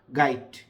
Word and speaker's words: গাইট: হয় গাই লাস্টে ড বেসিক্যালি এটার উচ্চারণ হচ্ছে গাইড ট লাস্টে ট গাইট গাইড অর্থ কি আবার